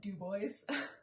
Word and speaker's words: Dubois: And then the locals rejected the French pronunciation because they were upset that they lost the name Never Sweat. So even though it's spelled Dubois, people call it Dubois.